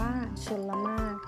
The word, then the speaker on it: ชลมารค: ว่า ชลมารค อ่าน ว่า ชลมารค จะ สังเกต ว่า ไม่ ออก เสียง รอ เรือ นะ คะ ส่วน คำ ว่า พจนารถ